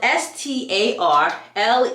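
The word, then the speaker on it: Starleigh: yes but it is pronounced as if it's spelled that is how you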